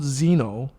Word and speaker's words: Xenoblade: you always mispronounce it it's just called xeno it's just it's not x xeno like it has an x in the front i know but then